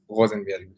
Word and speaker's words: Rosenberg: Oh, you say it like a German. Okay, how do you say it in Israel? In Israel, it will just be Rosenberg. So the R is a lot less aggressive and it's just not a German accent.